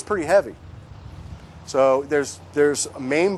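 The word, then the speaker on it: mame: heavy so there's there's main bonsai which are pots you can basically hold in your hand that's spelled m-a-m-e main bonsai very small and they've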